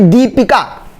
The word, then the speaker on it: दीपिका: ये देखिए दीपिका, नाम में देखिए हम क्या बोल रहे हैं, दी, दी मतलब हम ज्यादा समय दे रहे हैं, तो बड़ी